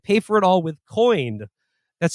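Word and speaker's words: Coign: Syrup products and pay for it all with coined that's spelled c-o-i-g-n America's First Credit Card for conservatives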